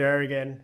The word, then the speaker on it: Arreguin: for the invitation and for getting my last name right. You got to roll your Rs. You know how to roll your Rs. Uh yeah. So again, my name's Arrian.